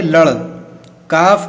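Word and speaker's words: لڑکا: کو ہجے پڑھیں گے۔ دیکھیے یہ ہے لام اور دوسرا حرف ہے اڑے، لام اڑے لڑ، کاف اور یہ ہے الف، کاف الف کا، تو یہ ہوا لڑ کا۔ دیکھیے لام اڑے زبر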